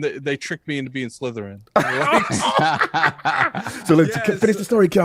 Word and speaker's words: Slytherin: a Harry Potter person I was like sciss scissor she was like Slytherin I was like yeah